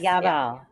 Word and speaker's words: Yabal: I believe the organization is pronounced Yabal. Is that right? Yabal. Yes. Yabal.